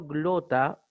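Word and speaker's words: γλῶττα: Finalmente, la doble tau se recomienda igual leerla y pronunciarla como la simple tau, una sola T. Por ejemplo, glota, que es lengua, exactamente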